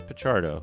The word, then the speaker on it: Picardo: I know like um hippolito picardo or picardo um he says picardo so I got to